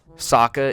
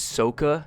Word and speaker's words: Sokka: Sokka is Soka.